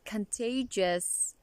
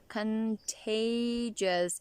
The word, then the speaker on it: contagious: contagious and deliverable actually the word contagious there are several syllables as you've noticed contagious and the primary stress is on the second syllable contagious contagious means fascist or